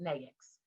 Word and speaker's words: NAICS: We pronounce it NAICS, right? And so the NAICS code, my firm, everybody has one primary NAICS